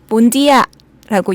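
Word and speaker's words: Bondia: 한번 가져주시면 좋을 것 같고 혹시나 동티모르 노동자들을 우리가 만나게 된다면 몬디아라고 인사를 한번 해주시면 어떨까? 본디아가 안녕이에요? 네. 다시 한 번만 본디아.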